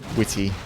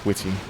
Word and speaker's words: Witty: you pronounce my name witty the easiest way to think of it is just the word witty he's he's attacking fast